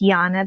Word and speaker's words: Janne: And I write on Instagram, and my name is pronounced Janne, but it's spelled Janne.